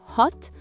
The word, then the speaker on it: hot: Le mot hot ne se prononce pas avec un son arrondi comme en britannique mais avec le son A. C'est le même son que quand vous dites A chez le dentiste.